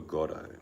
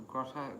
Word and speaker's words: Godot: Because you said waiting for Grotto. No, Godot, G-O-D.